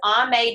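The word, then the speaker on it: Aimee: Another one is Ame Darling, and I don't have her on this list, but it's spelled A-I-M-E-E.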